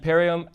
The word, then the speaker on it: Perriam: So, ladies and gentlemen, I'd love to introduce Jacki Periam and Eric Abink, right? That's correct. Is that those pronunciations bang on or okay?